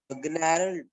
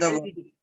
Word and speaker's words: gnarled: Gnarled.